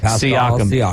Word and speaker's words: Siakam: 37 points, 11 rebounds, and 6 assists for pronounce his last name? Siakam.